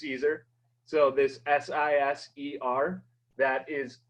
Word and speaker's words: Siser: So this S-I-S-E-R, that is pronounced Siser, not Siser or Sister, however you say it.